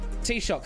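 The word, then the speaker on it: Taoiseach: I forget how to pronounce it. I know people know how to pronounce it. T-shock. Thank you. T-Shock of Ireland. I didn't want to butcher the Gaelic. Thank you for saying it's T-Shock.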